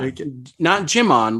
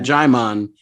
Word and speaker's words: Jaimon: All right, back to Jaimon, who not Jimon like Digimon, but Jaimon. And for reference, he put in phonetically, as in Jai Courtney.